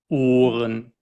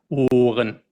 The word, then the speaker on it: Ohren: So hören, Ohren. Hören, Ohren.